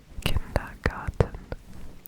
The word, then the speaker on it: Kindergarten: you know that kindergarten is actually pronounced kindergarten with a t not a d kinderen kindergarten kindergarten and